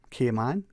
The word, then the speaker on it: Cayman: It's people, just like the word is Cayman, the capital K-M-A-N. That's how you say it.